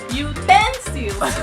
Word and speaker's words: utensils: Utensils. Parang double. Nasa second dapat. Paano? Yeah. Basahin nyo ng tama yung dapat nasa second syllable yung stress.